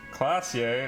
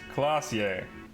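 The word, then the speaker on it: Klaasje: irania is pronounced haranye classier is pronounced clausier ravishole is pronounced revocal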